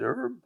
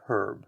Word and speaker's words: herb: So today in English-speaking countries, both pronunciations are acceptable. In the US, it's more herb. Canada adopts that and says herb, and the British say herb.